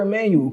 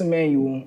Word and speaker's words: Ammanuel: where can the people follow you uh emanuel emanuel on all platforms so m c-h-r-i-s-a-m-m-a n u